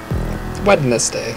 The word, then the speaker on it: Wednesday: Nobody says that. Wednesday. Like, if somebody said that, you'd be like, are you fucking serious? You'd be like, yeah, that's how it's spelled. Unless we all come to the agreement that we should put the N in front of the D.